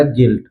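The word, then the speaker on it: guilt: जो है साइलेंट होगा गिल्ट यहां पर यू का उच्चारण नहीं हुआ है सीधा पढ़ा गया है जी आई एल टी मतलब यू को हटा दिया गया है सीधा पढ़ा गया गिल्ट इसी तरह गिल्ड गिटार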